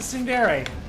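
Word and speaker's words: ツンデレ: I was pronouncing Sundere. Oh, right. Yeah, no silent E's in Japanese.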